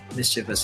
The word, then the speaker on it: mischievous: my other cat reena so how many syllables the adjective mischievous has very good three mischief this alright so